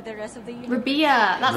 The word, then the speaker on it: Rabiya: Rabia.